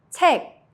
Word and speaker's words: 책: 기역, 키읔 sounds like a soft K. Example, 책, book, 부엌, kitchen. Try saying it. The sound stops at the back of your throat.